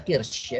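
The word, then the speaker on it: قرش: Nah, bacanya ternyata kirsh ya, bukan kurs.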